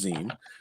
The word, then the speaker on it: zine: So yeah, so basically, it was a zine called, it's pronounced zine.